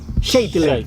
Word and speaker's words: Scheitler: No sé, tu nombre es Schleiler, ¿cómo se pronuncia? Scheitler.